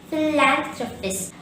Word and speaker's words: philanthropist: wealth to needy people the word philanthropist has four syllables fee land drop fist philanthropist so don't say throw or throw it in summary a